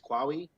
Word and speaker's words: Qawi: I believe pronunciation is Qawi.